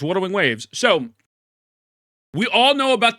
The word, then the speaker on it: Wuthering Waves: He'll pronounce Wuthering Waves correctly one day. Yeah, it's Wuthering Waves.